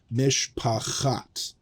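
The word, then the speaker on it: מִשְׁפַּחַת: Mishpacht is not a word that we've learned, but it's very close, and it should sound very close to mishpachat.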